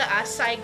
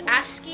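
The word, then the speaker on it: ASCII: Wait, it has the Asai graphics. How do you say this? Aski, actually.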